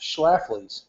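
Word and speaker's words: Schlafly: kind of Joy experience that some people get schlaf which apparently from what I've heard is how you're supposed to pronounce it is that's an old timey beer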